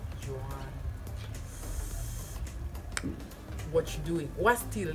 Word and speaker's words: Joan: My name is Joan, like Joan of Arc, or Joan from Girlfriend, or Joan Rivers, like R.I.P.